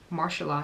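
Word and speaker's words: Mahershala: the actor I don't want to say his name wrong it's marshala marshala yeah marshala Ali very cool name I like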